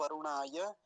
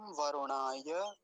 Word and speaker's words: वरुणाय: पिछले मंत्र में भी इदम वरुणाय इदन्न मम ऐसा ही था। इदम वरुणाय वरुणाय वरुणाय ऐसा नहीं करेंगे, रेफ पर ह्रस्व उकार है, छोटा ऊ है तो जल्दी ही बोला जाएगा।